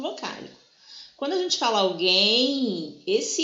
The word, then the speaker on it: alguém: E aqui, ó, no G, o U, quando a gente fala alguém, ele não tem som.